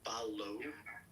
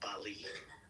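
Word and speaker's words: Bally: It's pronounced like Balo, not Bali.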